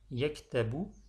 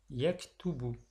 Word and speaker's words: yaktubu: Pour dire il écrit, on ne dira donc pas yaktabu, mais plutôt on dira yaktubu.